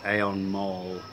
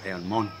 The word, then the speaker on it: Aeon Mall: As we heard in class, Aeon Mall is spoken as Aeon Mon. All shopping mall. Aeon Mall. Mon. Mon. Mon. Not mon, yeah, to get mon.